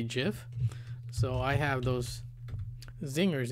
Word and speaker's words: GIF: out and tell them that the way I pronounce GIF is what the Creator calls it gif and not GIF you know so who's right